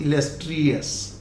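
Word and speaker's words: illustrious: So this is always us, अस, इलस्ट्रियस.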